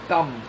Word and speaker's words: calm: কাম, CALM, কাম, এল এর কিন্তু এখানে উচ্চারণ নেই।